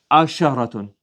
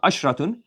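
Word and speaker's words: عشرة: Ashrun, and becomes asharatun. Not ashratun, you have to put here asharatun.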